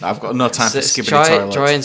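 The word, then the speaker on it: skibidi: Oh, it just didn't sound right because I think they put a lot more emphasis on the biddy, so skibbity.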